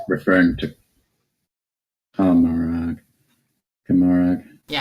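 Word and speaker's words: Commorragh: So this is spiderweb dream, and it's referring to Comorag. Yeah, how do you pronounce that? Comora. Yeah. The G isn't pronounced, so it's just Comora.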